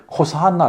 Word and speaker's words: 호산나: 이거를 이제 그 헬라식으로 발음을 호산나 이렇게 한 겁니다.